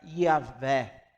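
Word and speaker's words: Yahweh: Mas a pronúncia original, mais provavelmente, era Yahvé ou Yahvé.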